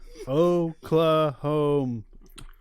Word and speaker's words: Oklahoma: safe word which is oklahoma that's a big safe word dude it's three syllables wait no it's four oh claw home yeah it's just hard